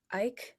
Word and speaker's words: Icke: This is all kind of tying into something that I heard David Icke. I don't know how to Ike is pronounce how people Ike.